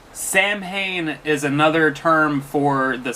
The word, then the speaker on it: Samhain: Halloween started as a pre-Christian Celtic festival pronounced with the name of Samhain. Samhain is another term for the summer's end.